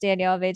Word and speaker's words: Daniellevates: But yeah, it's pronounced Daniellevates. So Danielle, and then.